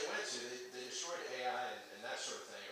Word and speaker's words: Ai: went to, they destroyed Ai and that sort of thing, or Ai is how it's actually pronounced. Pronounced I, by the way.